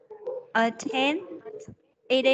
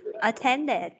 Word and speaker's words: attended: Attend. Ed này con đọc là gì? Thưa cô là đi. Tận cùng là gì đây? Đi nữa thấy không? Đi. Đọc là đi. At. Attended.